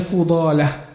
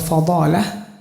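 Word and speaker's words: فضالة: Jadi dibacanya Fudalah. Kalau Fadalah itu nanti artinya kotoran.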